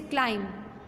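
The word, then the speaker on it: climb: जैसे क्लाइम, बी आएगा लेकिन बोला नहीं जाएगा।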